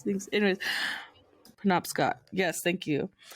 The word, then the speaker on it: Penobscot: short stories about one's family life on the Pino Boscott Reservation. I'm so sorry this entire podcast for how I can't Penobscot? pronounce things. Anyways, Penobscot.